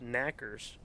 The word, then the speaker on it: knockers: they do is they the name knockers pronounced knackers actually comes from the knocking